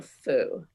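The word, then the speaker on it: 福: happiness because in chinese the word bat is pronounced fu and the word for happiness is also foo and playing with words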